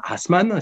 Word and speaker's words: Assmann: égyptologues favoris, qui s'appelle Jean ou Jan Hassmann, si on prononce à l'allemand, donc qui est allemand, qui est professeur à